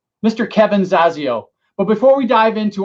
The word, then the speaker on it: Zasio: and and uh so the last name is pronounced zazio awesome hey and with that it's a good